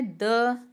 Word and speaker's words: 得: फिर हमारे पास जो नेक्स्ट वर्ड आता है वो है द। ये साइलेंट टोन के साथ है।